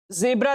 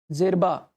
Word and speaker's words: Djerba: Coast है उसका span जो है फैक्स से जेब्रा तक है। जेब्रा तक है, जेरबा, माफ कीजिए, जेरबा, नाम थोड़ा सा प्रोनाउंसिएट करना।